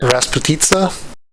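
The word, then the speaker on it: распутица: Raspita.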